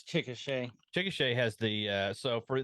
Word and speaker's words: Chickasha: hard to They're all pronounce. weird town. Okay, you keep going. I'm going to find Oklahoma. Chickasha. it's Chickasha.